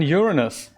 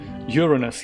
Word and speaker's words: Uranus: might not be possible Uranus yeah that's what I'm thinking and thing with the pronounciation on the first syllable right rod yeah we